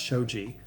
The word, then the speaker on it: shoji: Traditional Japanese homes solved this with sliding shoji panels, pronounced shoji, the paper screens often seen in pictures of old Japanese rooms.